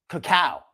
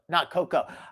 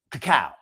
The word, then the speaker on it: cacao: Cacao, not cocoa. I mess up my pronunciation sometimes. Cacao. Like kapow.